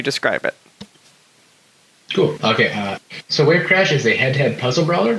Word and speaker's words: WaveCrash: is, okay, let me see if I can pronounce this correctly since we talked about this before we started. WaveCrash.